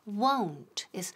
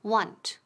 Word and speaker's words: won't: Y ojo aquí con la pronunciación. Won't. Esa O es como si fuera O-U. Won't. Rima con don't. ¿Ok? Ojo. Cuidado de no decir want.